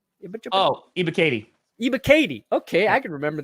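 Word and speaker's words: Ebiketie: Ibakete? Oh, Ibakati.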